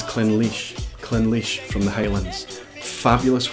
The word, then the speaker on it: Clynelish: I didn't think this one was particularly tricky, but I recently heard it pronounced as Clynelish. This is Clynelish.